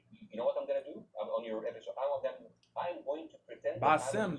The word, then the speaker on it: Bassem: Bassem, that's how you pronounce his name. My bad for mispronouncing. Bassem.